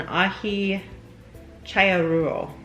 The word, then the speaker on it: Aji Challuaruro: the name it's an ahi chaya rule yeah because the double l's would be pronounced like a y um so again the